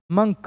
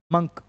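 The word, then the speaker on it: monk: land Lord land lady man women मंक क्या बोलते हैं इसको मंक नॉट मक ओल्ड मंक इट इज़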